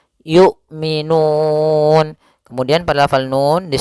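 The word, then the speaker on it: يُؤْمِنُونَ: juga Yu gitu ya tidak boleh dibaca dengan Ain tapi dia Hamzah yukminun Kemudian pada lafal Nun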